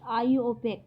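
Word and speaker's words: IUPAC: Pure and applied chemistry, आईओपेक, pronounced आईओपेक। ठीक है, इसको इस तरीके से प्रोनाउंस किया जाता है।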